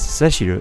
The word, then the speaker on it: Cecil: questions your authority so i want to pronounce it cecil because i have an uncle named cecil in the states but the the japanese name is written as seshuru and i think the